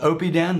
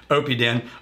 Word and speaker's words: Oppidan: peed in OB tan this is called Opie Dan that is correct pronunciation Opie Dan I'll tell ya I'm